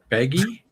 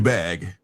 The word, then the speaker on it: Bagge: Baggy? Is that his name? Peter Bagge. Yeah, the U is silent, yes.